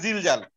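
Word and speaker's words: زلزال: যেমন সূরা জিলজালে এই জাটাই উচ্চারণ আছে, আমরা তো বলি সূরা জিলজাল, আমরা তো ঝিলঝাল বলি না।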